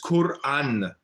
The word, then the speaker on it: Quran: How do you pronounce Quran? It's Quran.